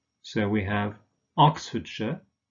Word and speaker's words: Oxfordshire: of course and but in these place names in combination with the names of towns for instance this pronounced sure so we have Oxfordshire not I'm sure remember